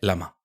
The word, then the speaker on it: LLaMA: Es que hay gente que dice llama y no se no se dice llama, se dice lama.